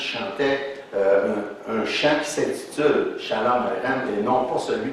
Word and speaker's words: Shalom: qu'il faut mais c'est Shalom àem c'est un ch qui se prononce dans le fond de la gorge qui sonne comme un air un peu normalement si